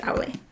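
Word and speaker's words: Aulë: These are all the different pronunciations that I looked up because I didn't want to sound like a fool. Yes, Aule.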